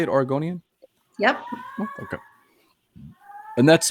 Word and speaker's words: Oregonian: Is that how you say it, Oregonian?